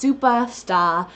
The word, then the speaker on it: Supah Stah: Then we have Supah Stah chocolate, and yes, it's written and pronounced Supah Stah, and I especially love this because I'm from Massachusetts, and that's what the name is all about, is it's meant to have like a Boston accent to it, and it